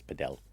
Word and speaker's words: padel: Or you can call it paddle, but the pronunciation is padell.